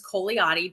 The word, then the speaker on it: Cogliati: always tell people just think of it like lasagna the g is silent it's not um so